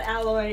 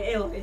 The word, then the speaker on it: Aloy: oh yeah yeah no not alloy aloy sorry aloy like aoy but it would be pretty